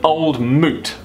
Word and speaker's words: Old Mout: popular cider is the old moot SIA from Nelson in New Zealand okay so old meat that is definitely pronounced because it's meant to rhyme with fruit started up in 1947